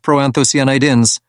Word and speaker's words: proanthocyanidins: care of them cranberries have something called proanthocyanidins pronounced proanthocyanidins and these stop bacteria from sticking to the